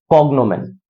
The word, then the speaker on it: cognomen: इसका प्रोनाउंसिएशन है कॉग्नोमेन। कॉग्नोमेन, कॉग्नोमेन का क्या होता है?